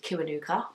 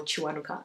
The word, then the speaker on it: Kiwanuka: Kiwanuka, or Chiwanuka if you want the Ugandan pronunciation, but it's spelled.